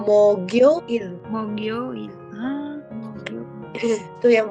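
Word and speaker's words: 목요일: Terus habis itu yang 13 mokyoil. Nah, ini gimana nih? Ya kan berarti G-nya ke samping mogioil.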